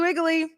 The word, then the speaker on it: Wiggly: new jersey fancy perch wiggly is pronounced with a v sound out of not a w i've never heard that